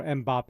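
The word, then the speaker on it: Mbappé: I say it as if I'm pronouncing the M. So Mbappe.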